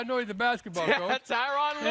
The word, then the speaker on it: Tyronn Lue: Yeah, Rhymes with blue. The blue. Okay, yeah, I know he's a basketball coach. Tyronn Lue right there.